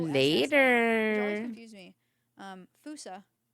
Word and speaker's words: fossa: It's spelled I'll see you Fossa, which always later. confused me. Fusa. People call it fossa, but like Fossa? Fusa? I always heard Fusa. it's fusa in like Wikipedia.